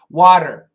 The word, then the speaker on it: water: Water, water, water. It's a flap T, flap T.